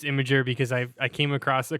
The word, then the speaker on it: Imgur: Is that how you pronounce it? I've always Imager. said Imgur. It's Imager.